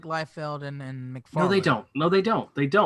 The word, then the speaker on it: Liefeld: Dino habla Feld is say his name right Liefeld like Vettel Rob Liefeld is she